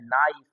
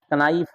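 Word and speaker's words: knife: समस्या ये होता है कि साइलेंट वर्ड में क्या दिक्कत है, जैसे बोलेगा लिखा हुआ है नाइफ, कनाइफ पढ़ लेगा, लिखा हुआ है।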